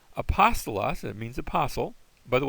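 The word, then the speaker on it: ἀπόστολος: Next, we have a smooth breathing mark, and the smooth breathing mark is silent. So there's our word apostolos.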